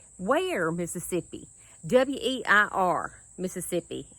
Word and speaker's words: Weir: W-E-I-R, Mississippi. And they pronounce it Ware.